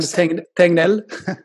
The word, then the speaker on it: Tegnell: And I don't know, how do I pronounce them? Giseke. We've had Tegnell.